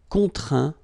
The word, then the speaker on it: contraint: Okay, and as usual, final T here is not pronounced, so you get craint, contraint, plaint.